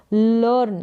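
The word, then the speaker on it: learn: है लर्न का मतलब यहां पर ई ए का उच्चारण बड़ी ई के रूप में नहीं हो रहा अब यहां पर अ के रूप में इ ए का उच्चारण हो रहा है तो जैसे मैंने कहा ई ए का उच्चारण बड़ी के रूप में अ के रूप में ए के रूप में इस तरीके से होता है तो ध्यान रखना है लर्न का मतलब सीखना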